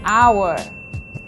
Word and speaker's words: hour: plenty use and before words that start with the silent h these are nouns like our and heir and the adjective honest so we say an hour an heir and an honest person do not use and